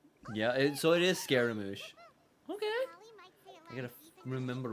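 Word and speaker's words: Scaramouche: So it's pronounced So it's so it's actually pronounced scaramoosh.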